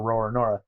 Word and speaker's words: Roronoa: And the second question is Zoro's name inspired by the pirate Francois Lolonoa, or in Japanese, Lolonoa is pronounced Lolonoa or Roronoa.